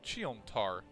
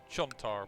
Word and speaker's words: Cheontar: you talking about over cheontar i mispronounced that chontar but uh it doesn't